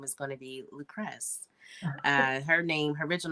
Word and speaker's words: Lucress: And when people try to add a couple syllables to my name, I'm like, no, that's not my name. It's just Lucress. It's just Lucress.